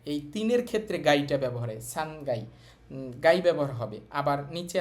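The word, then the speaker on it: 三階: দুই একটা জায়গায় উচ্চারণ সহজে করার জন্য ওরা গাই বলে।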